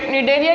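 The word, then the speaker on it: Cnidaria: इसका pronunciation निडेरिया किया जाता है, बट इसकी सी से इसका स्टार्ट होती है स्पेलिंग।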